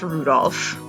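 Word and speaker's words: Rudolf: and good night anyway this guy's name is pronounced Rudolph ha he must hate grandfather for giving him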